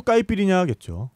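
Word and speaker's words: caipirinha: 뭐니 해도 까이피리냐겠죠. 까이피리냐? 네네. 뭐 어떤 술이에요? 까이피리냐는 까시아사라는 술로 만드는 칵테일이에요. 까시아사. 까시아사. 제가 발음을 맞게 했나요?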